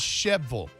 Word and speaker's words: Shelbyville: now here's the thing anything with a ville on the end of it well it's vole shelbyville is sheville what's shovelful yeah yeah eagleville is ickable what what's the line from